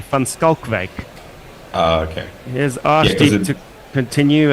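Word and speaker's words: Van Schalkwyk: Assuming it is South African, I haven't seen the spelling, but it should be Van Schalkwijk.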